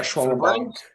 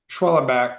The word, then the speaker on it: Schwellenbach: How do you pronounce it? Schellenbach, David? Yeah, Schwellenbach. Yeah. How do you say it? Schwellenbach.